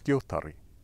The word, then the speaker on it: skjótari: Remember, no matter how long an Old Norse word gets, the emphasis is always on the first syllable.